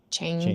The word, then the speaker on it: changed: This is one syllable if it's in the past, Changed. changed.